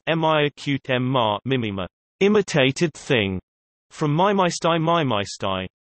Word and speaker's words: μίμημα: The word meme is a shortening modeled on gene of mimeme from ancient Greek mimema, pronounced m-i-acute-m-ma, mimema, imitated thing, from mimeistai mimeistai, to imitate, from